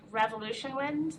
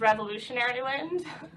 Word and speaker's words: Revolution Wind: of offshore wind from revolution wind the milliner and may always wants to pronounce that as revolutionary wind which will be developed